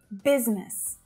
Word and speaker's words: business: Business. Now, it really does look like there should be three syllables there, right? But it's not.